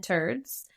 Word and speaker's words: Terdz: This hybrid strain is a cross of peanut butter cup and turds. Why did we keep crossing things with that one? Turds. It's TERDZ, but like same pronunciation.